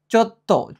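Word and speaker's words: ちょっと: চোত্ত। চোটা যুক্ত বর্ণ আর এটা ছোট সু, আমরা জানি ছোট সু থাকলে এটা ধিত্ত উচ্চারণ করতে হয়, তাহলে চোত্ত।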